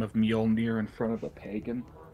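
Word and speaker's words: Mjölnir: she pronounce it as I think I did the usual white thing is this much all near or something like that yeah I said the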